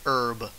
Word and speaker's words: herb: is your favorite herb or should I say herb since the H not pronounced all right as soon